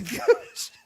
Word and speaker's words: Kooch: this episode the couch the couch the couch a lot of disappointed people when they click on an episode it'll be cool well if you start it if you spell it k oo ch they're gonna wonder so